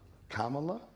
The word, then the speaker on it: Kamala: name Kamala Kamala yeah Kamala like comma La that's fresh dude sry